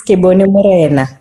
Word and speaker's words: Kebone Nthite: So Kebone, how do you pronounce your full name? My full name is Kebone Nthite.